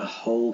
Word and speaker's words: whole: is going to eat the whole cake notice the silent w and there's nothing missing